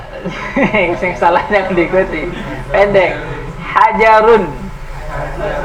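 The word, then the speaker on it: حَجَرٌ: Hajarun. Ah, pendek, jangan dipanjangi, jangan hajarun. Hajarun.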